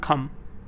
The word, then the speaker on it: calm: she told me to come down B is better yes because it is Lila calm it's not calm it's not come it's calm she told me to